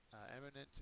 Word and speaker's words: eminent: concur next word eminent eminent is an adjective first syllable is accented it means famous outstanding